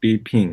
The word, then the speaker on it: Bipin: did I pronounce it right? Bipin, right?